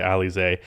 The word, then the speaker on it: Alize: i believe it's pronounced alize it looks like elise but i've heard everyone say ali zay and troy brown jr